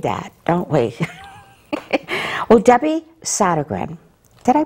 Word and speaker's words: Sodergren: Well, Debbie Sodergren, did I pronounce that right? Yes, Sodergren, is the owner of Up Vibrations.